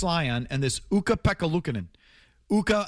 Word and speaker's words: Ukko: Ukko again rhymes with Pukko.